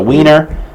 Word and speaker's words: Wiener: Well, Wiener, because in German that would be Wiener. Okay, it would be pronounced with a V.